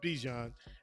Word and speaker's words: Bijan: Okay, I just wanted to open the door for you since we was talking about Bijan, and it rhymes with Dijon.